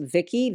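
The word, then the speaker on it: Vici: to me brand it's I think it's pronounced Vicki VI i c i so I was influenc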